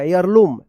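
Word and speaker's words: heirloom: होगा एयर लम होगा एयर लम एयर लम एच ई आई आर L double O एम यहां पे एच जो है ना साइलेंट रहेगा देखिए यहां पे near the bridge they found a family एयर लम।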